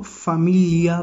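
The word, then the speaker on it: famiglia: तो इसीलिए हमने इसको फामिलिया पढ़ा, इसको फामी आगे जी को ग्ली नहीं पढ़ा, हमने ग्लिया नहीं पढ़ा, ये वर्ड बनेगा फामिलिया, ठीक है, फामिलिया।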